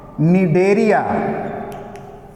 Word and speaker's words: Cnidaria: Second, Cnidaria. In Cnidaria, C is silent. Don't pronounce C.